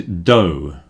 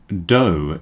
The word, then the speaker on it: dough: The last one is dough. Again, you won't see this very often. That is uncooked bread, dough.